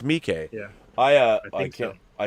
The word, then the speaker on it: Miike: Just okay, it's Miike.